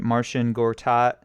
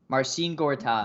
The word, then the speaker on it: Marcin Gortat: Am I pronouncing this right? Martian Gortat. Marcin Gortat, Marcin yes. Gortat.